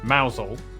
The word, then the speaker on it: Mousehole: Starting in Biaulio, Bewley, head over to Rampisham, Ransom, then down to Mousehole. Mousehole, Next, travel north up to Towcester, Toaster, then